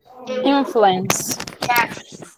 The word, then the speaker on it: influence: the pronunciation guys influence influence this is a noun not a verb okay as a noun we say influence the stress on the first syllable when we use that